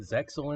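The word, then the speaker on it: Zexal: of a dualist, and the X is silent. It's just a stylization. Uh but they called it Zeil in the English, so whatever.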